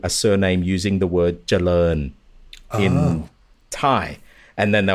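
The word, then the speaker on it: เจริญ: That's the reason why I said I think you're thinking of the spelling is because I know when they spell it in English, it's like an O-E-N at the end. Yeah, Charoen, yeah. Yeah, right. So I think you've got that E somewhere subconsciously popping up, but it's coming up first.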